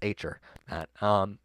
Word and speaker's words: Acer: Acer, yeah, it's Acer. Great pronunciation for the live stream.